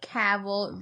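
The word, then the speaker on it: Cavill: or anything like that H caval rhymes with gavl Cav Cav it's not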